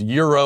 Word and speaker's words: gyro: gyro i know it's you could say it's pronounced euro or whatever g-y-r-o gyro sounds better it looks better that's how i pronounce it usually i'm all